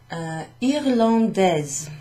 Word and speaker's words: irlandais: I, R, L, A, N, D, A, I, S. Now, before I put the final letter on, this would be pronounced irlandais.